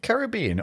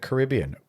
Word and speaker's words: Caribbean: Now, is it Caribbean or is it Caribbean?